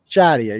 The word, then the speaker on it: Shadia: So you're friends with is it Shadia? Is that how you pronounce it? Shadia. Shadia.